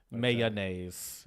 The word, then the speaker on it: mayonnaise: Westy kind of area says it with 3 syllables. Mayonnaise.